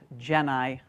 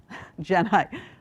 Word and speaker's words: Genii: Earth, pronounced Gedi Earth. Geni like Jedi.